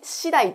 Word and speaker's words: 次第: と同じ意味ですなになに次第と読みますねこれによっ